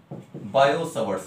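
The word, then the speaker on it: Biot-Savart: अब देखिए बच्चे, we have first thing बायो-सवर्ट्स लॉ। बायो-सवर्ट्स लॉ, तो कुल मिला के बात ये हुई, देखो लिखते हैं BIOT बायो, बट we pronounce that bio, बायो-सवर्ट्स लॉ।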